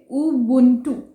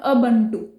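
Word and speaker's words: Ubuntu: बनाया गया है, और इसको हम बोलेंगे उबुंटू, नॉट अबंटू। इंडिया में usually we call it एज अबंटू, बट इट्स उबुंटू, उबुंटू, like this, उबुंटू।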